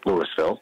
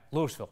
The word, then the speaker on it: Louisville: in Louisville pronounce it Louisville because I always say we are named after a guy named Lewis Lewis nawat nee was